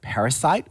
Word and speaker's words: parasite: So we have the word parasite with stress on the first part and parasitic with a different stress pattern.